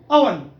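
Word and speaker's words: oven: Next, ओवन यानी चूल्हा वगैरह जिसमें आप रखते हैं, ओवन, ओवन नहीं है, ओवन। इधर उर्दू भी देखें, ओवन, अवन। असल करेक्ट प्रोनाउंसिएशन है अवन, अवन।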